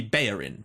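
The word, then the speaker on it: Bellerín: for example like Hector bellerin right I've never heard him pronounced any other way than Hector bellerin now I assumed that perhaps because he was Spanish it might be bayin perhaps but then when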